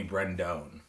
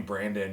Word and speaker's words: Brendone: comedian wrestler Brandon oh you pronounced my name correctly yeah I did a fan last night called me Brendon and so no one called me Brendon until wrestling so I know if you call me Brendon you know me from wrestling or like someone's referred to me and I got no problem with mispronouncing my name unless you call me Brandon you're like one one